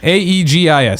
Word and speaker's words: Aegis: Aegis.